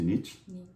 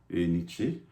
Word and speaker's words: Nietzsche: Alors, bon, on prononce ça de différentes façons. Parfois, j'avais dit la dernière fois, c'est Nietzsche, et d'autres disent Nietzsche. Donc, nous allons continuer avec Nietzsche.